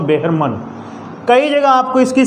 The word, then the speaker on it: Behrman: उसके बाद है एक अनदर कैरेक्टर जिसका नाम अपने है बेहरमन या मैन कह सकते हो, लेकिन सही देखा जाए तो बेहरमन।